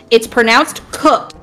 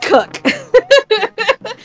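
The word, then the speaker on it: Kock: Okay, let me paraphrase this by saying it's pronounced cook, but it's spelled K-O-C-K. Yep. My brain. But it's pronounced cook.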